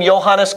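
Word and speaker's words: Johannes: because remember the name johanes Kepler how is it spelled with a with a J they don't pronounce the J they pronounce it as a y we pronounce it as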